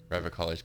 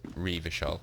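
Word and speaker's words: Revachol: it's telling me that Rover College pronounced Reva shop or something like that but I've already been pronounced near ever call for so long that it feels right tape machine compact a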